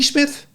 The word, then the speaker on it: Psmith: The name is Smith. P. Smith. The P is silent. P. Smith?